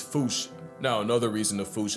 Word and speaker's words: fossa: Cause their name comes from the original Malagasy word, and apparently the correct way to say it is foosh, like foosh with a performance anxiety at the end.